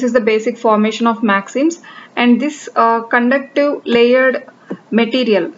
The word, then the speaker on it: MXenes: So this is pronounced as MAXINS, and this is a topic under materials science, a new invention under materials science.